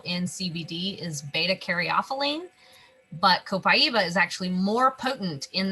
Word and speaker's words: copaiba: have the last one here is copaiba or copaiba as some people like to say myself included i'm guilty of not pronouncing it properly so i'll say it again copaiba is how the brazilians say it i believe so this is